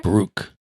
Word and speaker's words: brooch: I said it wrong so many times that I can't say it right anymore. Brooke.